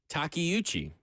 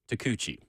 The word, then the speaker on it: Takeuchi: Learned a new word today, Takeuchi. It's not pronounced Takuchi, like I initially thought.